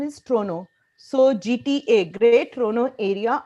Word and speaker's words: Toronto: area uh I pronounce Tonto in India we pronounce tono but in Canada the right pronunciation is trono so GTA great trono area our main three